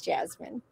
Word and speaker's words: Jessamine: And that is how you say her name. Yeah, it doesn't make much sense. My parents chose an unusual spelling, but they were trying to name me Jasmine after the flower.